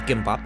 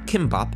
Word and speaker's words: gimbap: for those who are not familiar a korean gimbap or kimbap as it is occasionally pronounced here in the states is a rice